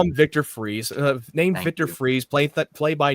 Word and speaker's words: Fries: kind of felt just say freeze. I mean, everybody knows Victor. I'm just going to call him Victor Freeze, not fries.